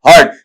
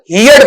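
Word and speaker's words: heard: हर्ड। बेटा आप कई बार हियर्ड पढ़ देते हैं। हियर हियर्ड हियर्ड नहीं होता है। हियर हर्ड हर्ड ऐसा रहेगा। हियर्ड वहां पर उच्चारण नहीं बनेगा।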